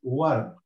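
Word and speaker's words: وَرْد: And the last letter here is dal, also as a silent, so it is ward.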